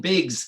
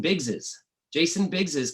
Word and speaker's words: Biggs's: They say it, Jason Biggs' Cash at Your Door, right? Even with the possessive, Jason Biggs. But I've said to them, I said, it's pronounced Jason Biggs's Cash at Your Door.